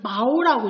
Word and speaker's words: 毛: 중국어 각 밑으로도 읽을 때는 마오라고 읽고요.